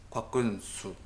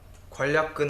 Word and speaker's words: 곽근수: 아니 곽근수. 발음 잘해라. 관략근 아니고 곽근수다.